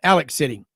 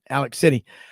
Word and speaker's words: Alex City: Alabama group kicks 96.3 Alexander City or as they say down in Alabama Alex City that's how you say it Alex City uh 750 miles the